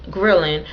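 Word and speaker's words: ghrelin: trigger a rise in thrilling I'll make sure I'm saying that right it's spelled g-h-r-e-l-i-n grilling which is a hormone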